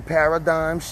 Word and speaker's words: paradigms: that we just uh on some paradigms out your silent g you heard me and